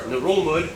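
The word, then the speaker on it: Ngerulmud: The largest one being Babeldaw Island, which holds the capital Melekeok, or Narulmud, yeah that's how you pronounce it, which is the least popular capital in the world with only about 400 people.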